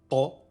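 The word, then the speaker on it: ط: La lettre Ta est un T emphatique. C'est la première lettre du prénom arabe Tariq. Ta et non Te, Ta, Ti, Tu, Tin.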